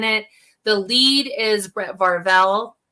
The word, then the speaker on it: Varvel: the lead is brett varvell varvel i always say his name wrong so i get stuck saying it wrong brett marvel and he just such